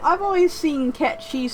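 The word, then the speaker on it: Cait Sith: like i've always seen cat cheese spelled c-a-i-t-s-i-t-h which most people like pronounces kite sith which is wrong but then again she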